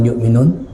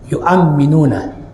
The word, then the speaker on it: yu'amminuna: Wa yu'amminuna, bacanya jangan yu'minun, yu'amminuna, dan para malaikat mengaminkan ala du'aihi, doanya dia.